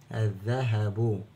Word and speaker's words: الذهب: مشدد الذى الذهب طيب اللام هنا سمعنا صوتها طبعا لا تكتب ولا تنطق ودي اللام الشمسيه وانا بشبهها بالباب المفتوح يعني باب الكلمه مفتوح بندخل على طول على الحرف اللي بعد اللام وهنا حرف الذال ويصبح مشدد وننطقه مرتين مره ساكن او نسمع صوته مرتين مره ساكن ومره متحرك يبقى اذ ذا اذ ذا ولا ما نسمعش صوتها